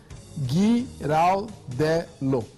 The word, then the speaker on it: Giraldello: guiaram guia giraldello é guiraldelo Finalmente consegui pronunciar o sobrenome dele eu tô as duas